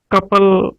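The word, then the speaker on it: tuple: List है कपल टी नाल लिखिया जांदा है, ज़्यादातर कुछ लोग टपल भी बोलते ने, कुछ कपल बोलते ने। ये शब्द DBMS जां RDBMS दे विच भी यूज हुंदा है, उत्थे इसकी प्रोनाउंसिएशन कपल हुंदी है। जे तुसीं टपल भी कह दोगे तो कोई वड्डी गल नहीं है, नो मैटर, पर मैं कपल बोलूँगा, मैं शुरू तो कपल ही बोलता आया।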